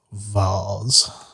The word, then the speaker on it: Vaz: Well, I'm betting that that's the dude that came here to also attack Vaz. it's pronounced vase.